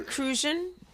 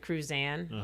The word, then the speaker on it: Crucian: Cruzan is pronounced Crucian instead of Cruzan. Like you see the rum, Cruzan like rum. Right. No, it's Crucian.